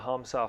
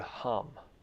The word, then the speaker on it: ham: nose and mentally you pronounce the word hum like a ah sound not a a not ham but um so when you inhale